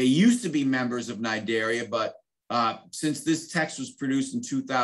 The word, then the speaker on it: Cnidaria: corals sea ane enemies sciphonophores jellyfish all right nidaria silent c it kind of reminds me of